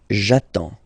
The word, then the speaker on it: j'attends: J'attends. Okay, you get D and S. Well, basically you don't pronounce them. Okay, and then you get only the sound attends. Nasal here, en, j'attends.